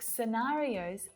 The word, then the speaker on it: scenarios: Different scientific scenarios fascinate me. It's that letter C. It's usually silent when it appears after an S.